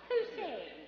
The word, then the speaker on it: Posehn: Posehn, yes, a very funny gentleman.